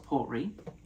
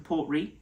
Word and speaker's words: Port Ruighe: We have the Port Ruighe, I believe it's pronounced the Port Ruighe.